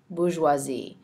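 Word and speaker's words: bourgeoisie: known as the bisi and that is spelled b o u r GE e o s i e Bazi and in fact there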